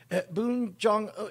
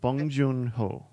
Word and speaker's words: Bong Joon-ho: you ever pick yam I think oh it's boom Jong no how do you say his name bong Joon bird song Jong bong joon-ho yes bong joon-ho there we go thank you